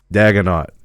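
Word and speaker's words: Daigneault: But the coach, who I believe his last name is pronounced Daganot.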